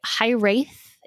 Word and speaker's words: Hiraeth: I'll put the name of the group in the show notes, but the High Wraith is spelled Hiraeth.